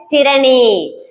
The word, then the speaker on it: tyranny: இப்போ இதுல first word ஒன்னு எழுதிருக்கல, இது எப்படி ப்ரொனவுன்ஸ் பண்ணணும்னா tyranny. That's the point. tyranny. It is tyranny.